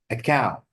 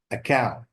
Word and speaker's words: account: The stress is on the second syllable, not the first.